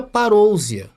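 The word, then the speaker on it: παρουσία: vinda então ali está no original em grego se pronuncia parouzia então todas as vezes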